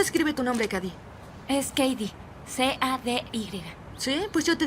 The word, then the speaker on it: Cady: ¿Cómo se escribe tu nombre, Cady? Es Cady, C-A-D-Y.